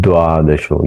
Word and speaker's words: द्वादशो: द्वादशो दद ये उच्चार ये द का डबल उच्चारण अथ द्वादशो ये भी आपको ध्यान